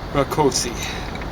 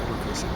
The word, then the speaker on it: Rakosi: Carl Rakosi. Probably should be Rakosi, because I suspect it's Hungarian. I know Rakos is we mispronounce it Rakos. It's a Hungarian. But Hungarians pronounce S's kind of like our SHs, and vice versa.